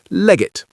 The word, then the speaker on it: leg it: Now notice that this is pronounced almost as one word, leg it.